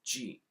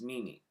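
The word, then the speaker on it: 耳: It also has 2 pronunciations. The own reading is ji. The kun reading is mini.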